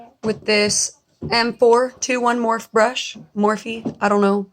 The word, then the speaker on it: Morphe: Morphe. I don't know how to pronounce it. It's Morph. So fuck you if you think it's Morphe.